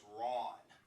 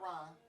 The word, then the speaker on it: Rawn: My name is Rawn. Spelled R-A-W-N, not Ron. Like Dawn.